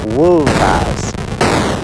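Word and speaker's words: wulfas: So these are the Old English words for wolf and wolves, and they're pronounced wolf and wolvas. You hear how the F is making a very different sound the second time round.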